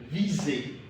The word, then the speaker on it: viser: Viser. Viser is pronounced as Z.